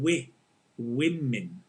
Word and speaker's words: women: woman or business women this is such a common mistake right people mispronouncing woman in the singular woman and we win in the plural right singular business woman